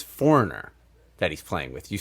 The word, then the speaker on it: Foreigner: I'm from Long Island, so it's foreigner. Okay. Foreigner. If you go to Boston, it's finer.